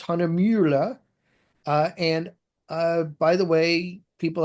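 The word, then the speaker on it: Hahnemühle: The brand is Hanamula, and as an American, I'm gonna mess up the pronunciation. I really enjoy it when I have German speaking people in my classes because they can handle the U with the umlaut much better than us Americans can. But the way I remember how to say it, it's Hanamula.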